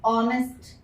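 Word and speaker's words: honest: For example, ऑनेस्ट, अब spelling तो एच से शुरू हो रही है, ठीक है, बट प्रोनाउंसिएशन क्या होता है, ऑनेस्ट, ठीक है।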